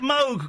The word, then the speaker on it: Moog: Yeah, in Germany it's a fairly common name and there it's pronounced Moog.